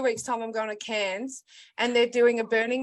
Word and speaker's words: Cairns: yeah it's spelled c-a-i-r-n-e no rns cairns yeah but we don't say ours in australia remember yeah so it's it sounds like cans like what you take to the bottle depot yes no well what